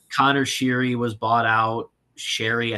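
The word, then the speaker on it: Sheary: Sherry, I think it's Sherry is how you pronounce it.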